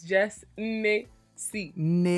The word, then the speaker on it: JessNneCee: Okay, so for real, if you want to get to nitty gritty, it's Jess Nessie. Like Nne as in Igbo.